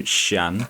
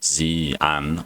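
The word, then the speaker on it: Xi'an: So, Xian, which is actually Zan.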